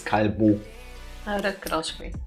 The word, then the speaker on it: Callebaut: First of all, it's a Belgian company, so I'm pretty sure you're supposed to pronounce this in French, so it's Callebaut.